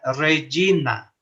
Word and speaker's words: Regina: La G antes de la E o de la I se pronuncia como la Y española, ¿no?